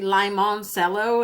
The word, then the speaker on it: Limoncello: But when you look it up, it's actually Limoncello. And I was like, why the heck would they pronounce it like that?